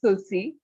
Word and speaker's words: Tulsi: I mean, while it's spelled Tulshe, my name's pronounced Tulsi.